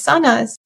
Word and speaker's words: Sanaz: So when I got a new job I um pronounce I would pronounce my name as Sonas and then they would say oh how do I say it?